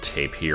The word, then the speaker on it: tapir: It's based off of a taper. It's also pronounced tapir, or there's a bunch of ways to pronounce it, but I'm just going to go with taper.